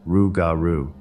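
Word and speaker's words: rougarou: was old Legends of the raru which is pronounced rugaru I told my grandpa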